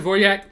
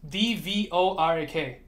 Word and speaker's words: Dvořák: Here's the Dvorak layout.